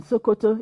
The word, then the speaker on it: Sokoto: there was this land that what's there in sokoto is there in shukoto oh sokoto is the